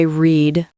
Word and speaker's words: read: Today I read a book, but for the past, yesterday I read a book. It sounds like the color red.